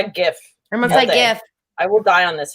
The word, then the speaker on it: GIF: Hard G. Guh. Hard G, not a soft G.